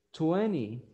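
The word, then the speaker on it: twenty: Y lo último, cuando ustedes tienen una letra N y una letra T juntas, la mayoría de veces la letra T no se pronuncia. Por ejemplo, cuando ustedes dicen 20, 20 en inglés americano, la T después de la N no se pronuncia en el 90 y algo por ciento de las palabras.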